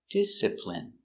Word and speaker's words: discipline: when he doesn't behave pronunciation discipline D disip disciple disciple discipl discipl discipline discipline discipline stress on first discipline discipline discipline I